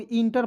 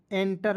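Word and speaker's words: enter: चलिए आप देखेंगे तो इसे बहुत लोग इंटर पढ़ते थे। नहीं एंटर पढ़ना है।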